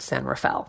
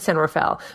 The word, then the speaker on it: San Rafael: which should be pronounced on Rafael but it's pronounced San Rafael that's we pronounce it here at San Rafael Vallejo is another town of which of course